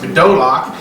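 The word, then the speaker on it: bedolach: Bdellium is what the word it looks, but it's actually pronounced Bidolach, and it's a gum resin.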